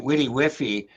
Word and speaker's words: WDYWFY: We pronounce it witty whiffy, but Witty whiffy, okay.